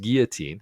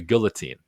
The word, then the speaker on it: guillotine: It's pronounced guillotine, as the French would pronounce it, but he calls it a guillotine.